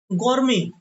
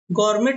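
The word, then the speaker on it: gourmet: अगला हमारे पास शब्द है गौरमे। क्या पढ़ेंगे इसको? गौरमे। गौरमेट नहीं पढ़ते इसको, गौरमे पढ़ते हैं।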